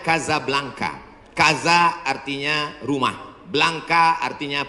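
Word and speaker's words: Casablanca: Nama negaranya Maroko, ibu kotanya tulisannya Casa Blanca. Cara bacanya Kazablanka.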